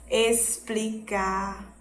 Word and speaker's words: explicar: Ele vai ter o som de S, como estando no final da sílaba, né? Explicar, extenso.